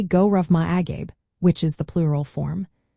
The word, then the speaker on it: go raibh maith agaibh: The pronunciation for both phrases is quite approachable, with go raibh maith agat sounding like gurruvi ma aguth and go raibh maith agaibh as gurruvi ma agwibh.